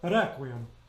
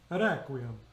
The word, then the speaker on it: requiem: The trick to making a flipped R, if you don't know how to do it instinctively, is just say a D. I mean, if you go and do a quick D and go requiem, requiem, it sounds very Italianate, but requiem.